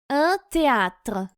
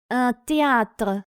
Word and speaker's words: théâtre: Буква Т читается как Т, и буквосочетание TH читается как Т. Т. Yem. Un théâtre.